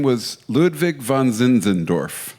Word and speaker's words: Zinzendorf: Zinzendorf. Zinzendorf.